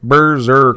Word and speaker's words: Brzrkr: Because it is Brzrkr. All right, Berserker.